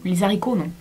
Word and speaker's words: haricots: vous voulez les haricots les haricots j'aimerais c'est d'avoir trois un nom on prononce pas le h1 les haricots alors en fait